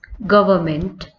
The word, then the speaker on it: government: Similar, the next word we have, that is government. See the correct spelling of government over here, that is govern. Here again N is silent in the spelling of government.